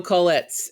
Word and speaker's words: Kolitz: are recording now hello hello hello hello daniel kollitz am i pronouncing your name right yep that's it i